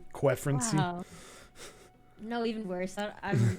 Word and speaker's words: Quefrency: So how do you say that? A Q-Frenzy? Q-Frenzy? Q-Frenzy. I only know that been... I only know that because of Keep Noob. Wow, I've been saying it so wrong. Quefrency.